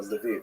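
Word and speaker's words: Lviv: So this is in the western part of Ukraine not too far from Levie or Leviv as it's pronounced now.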